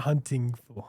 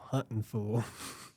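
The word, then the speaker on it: Huntin' Fool: Not hunting fool. Hunting fool.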